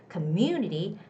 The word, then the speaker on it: community: industries in our community community the second syllable community has the stress have that have had